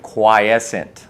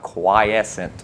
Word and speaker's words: Quiescent: name you pronounce it quiescent like a fluorescent light but instead of floor it's quite quiescent mantis i've heard a